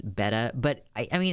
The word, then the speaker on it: betta: it's even funnier than don't pronounce the t's pronounce them like D's betta but I I mean